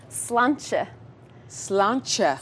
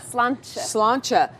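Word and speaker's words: sláinte: the most important phrase okay cheers in Irish slan slancha slan slancha right here CH t e CH how many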